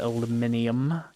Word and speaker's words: aluminium: It physically hurts us the way they pronounce the UK pronounces it aluminium.